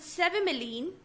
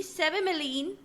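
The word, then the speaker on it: cevimeline: to talk about two drugs pyo carpine and s miline c v i m e l i n e s miline both pilocarpine and sealine they used to treat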